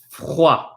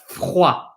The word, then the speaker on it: froid: Once you can say théâtre, there's another word I'd like you to practice, which is froid.